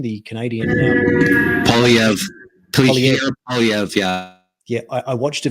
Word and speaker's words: Poilievre: Is that how you pronounce his name? The Canadian Poilievre. Pierre Poilievre, yeah.